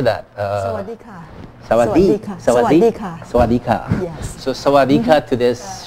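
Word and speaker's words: สวัสดีค่ะ: Sawadika.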